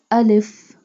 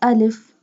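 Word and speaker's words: ا: Ja, alif, alif, and alif pronounced from the empty space of mouth.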